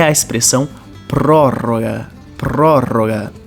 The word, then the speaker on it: prórroga: prorrogação eu chamo de prórroga muita atenção aqui na pronúncia do pro e também no duplo R então prórroga prórroga outro termo muito importante